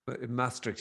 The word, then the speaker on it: Maastricht: They're connected with researchers at Maastricht. Is that how you say it? University? Maastricht, yeah.